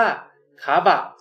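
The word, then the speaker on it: カバ: เป็น บะ นะ ครับ ออก เสียง ว่า คาบะ คาบะ นะ ครับ ก็ จะ เป็น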